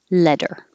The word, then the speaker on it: letter: there can disappear and you connect the consonant t over to the e and now the t is between two vowels so it sounds like a d letter letter let her know